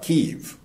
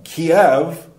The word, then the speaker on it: Kyiv: Well, I guess what they're saying is Kyiv is more the Ukrainian pronunciation. But let me tell you, a lot of the people who lived in, you know, Kiev were also Russian.